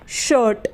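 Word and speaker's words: shirt: यानी चिड़िया तरीके से शर्ट एस हा आई आर टी शर्ट तो इसमें भी आई है और आई के बाद आर है तो आई का उच्चारण ओ होगा स को हिंदी में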